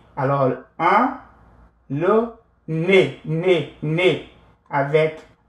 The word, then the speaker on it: nez: Un, le nez. Nez avec Z à la fin. With Z at the end. Un, le nez. On ne prononce pas.